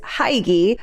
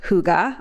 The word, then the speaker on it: hygge: diving into the Scandinavian mindset and philosophy of Huga now perhaps you've heard it pronounced in different ways I for many years heard it pronounced as Hai but the actual pronunciation is Huga all right and we'll leave it there so